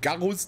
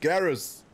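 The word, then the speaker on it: Garrus: glücklicherweise englisch ausgesprochen wird das ist nicht garus der Römer das ist garis klingt als wollten sie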